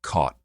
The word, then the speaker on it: caught: what's called the Cot Caught Merger. And you can hear, by the way, I pronounce those words, that I do not have that merger because I say cot, C-O-T, and caught, C-A-U-G-H-T, differently.